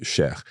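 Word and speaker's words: cher: c h e r although it ends in e r you pronounce Sher and am am exactor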